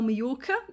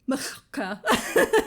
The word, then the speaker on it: Majorca: 2 ways to spell Majorca. There's the J, which is a sort of a y sound, I think, in Spanish.